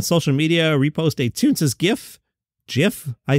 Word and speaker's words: GIF: media repost a Tunes GIF GIF I say GIF send me a letter and that's what got the juices flowing you GIF people are insane it's a hard G look at the word Robert Smigel recently said